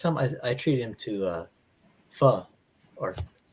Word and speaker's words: pho: Is it like Oh, there's so many places out here, and it's like the last time I treated him to pho, or it's spelled PHO.